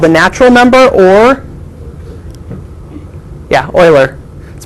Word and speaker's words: Euler: natural number or yeah oiler let's pronounce Euler it looks like Euler but he pronounced it oiler Euler number so e the letter E is called the natural number or the Euler number the number E